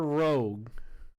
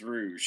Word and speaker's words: Rouge: And I know I'm gonna pronounce this wrong, most likely, because I don't know if the river it's Rouge or Rogue. It is Rouge.